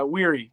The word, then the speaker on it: Wery: It's Weary, but that's cool.